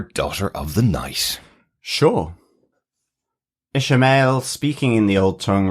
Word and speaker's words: Ishamael: So, her pronunciation of Ishamael, I guess, is the correct pronunciation because that's the guidance she's been given for the audiobook. So, but I love the sound of that. It sounds better than Ishmael, the Ishamael, as she pronounced it.